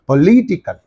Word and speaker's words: political: the suffix is there so what is the syllable preceding the suffix means this one only there for political what should you say